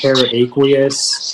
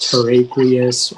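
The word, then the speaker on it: terraqueous: Yeah, so it can be pronounced teraqueous, teraqueous, or teraqueous.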